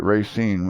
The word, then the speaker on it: Racine: so we're good yes that's how you have to pronounce it Racine Wisconsin yes they're building like crazy